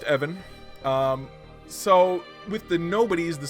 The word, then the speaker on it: Even: name was Evan it spelled like the word even but it's pronounced Evan so with the nobodies